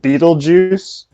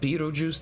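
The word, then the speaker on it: Betelgeuse: drugs don't do it there's a uh and beetlejuice i think it's one of the stars in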